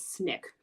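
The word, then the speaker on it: SNCC: Student Nonviolent Coordinating Committee also known as Snick pronounced how I'm writing it on the screen Snick was a group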